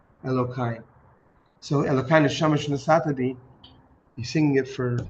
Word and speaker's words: Elokai: Elo is spelled E L O K A. Elohai.